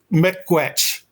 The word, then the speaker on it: Meeqwetch: most French words in it, we would say metquetch, which I'll spell it out.